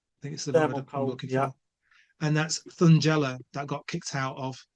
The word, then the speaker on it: Thungela: And am I pronouncing this right? Thungela? Thungela.